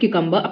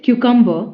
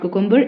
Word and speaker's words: cucumber: know my Ms sliced cucumber sandwich so it's cucumber and not cucumber it's not cucumber it's cucumber you can see here